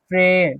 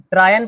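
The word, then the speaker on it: train: ट्रेन। ट्रायन पढ़े क्या इसको?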